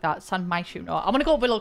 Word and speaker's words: San Myshuno: So starting in San Myshuno. Why did I pronounce it like that? San Myshuno.